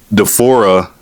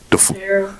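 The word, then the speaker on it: D'Pharaoh: Um, and then you got, you know, uh, Deora Is that how you pronounce his name again? The Pharaoh.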